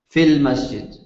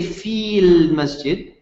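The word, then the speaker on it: في المسجد: keep in mind that whenever you're reading the word fee and then Al comes afterwards you don't pronounce the long vowel you don't say feel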